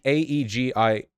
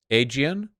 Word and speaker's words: Aegean: again see say again well in English a-e-g-i-a-n would be aegian again again see again Aegean I don't care I'm